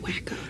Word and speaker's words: Waco: I think it's also supposed to evoke a little bit of Chip and Joanna Gaines with Waco. It's pronounced Wacko.